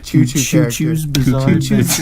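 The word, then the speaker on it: Cucu: Can we get a shirt design And that it- just says Cuckoo's crazy journey, and it's C-U-C-U.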